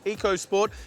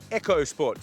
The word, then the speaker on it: EcoSport: what this here is not called the Ford EOS sport it's actually got a silent h in it so silent they don't even print it on the back of the car it's actually pronounced the Ford echos sport so if you're looking for one make sure